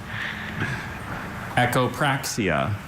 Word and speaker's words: echopraxia: Echopraia. Can I have all the information, please? Echopraia has no other uh pronunciations.